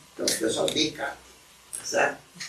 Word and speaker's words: Descartes: Descartes se escreve Descartes, mas para falar tem que se descartar os S. Então fala-se Descartes, lá tira os dois S.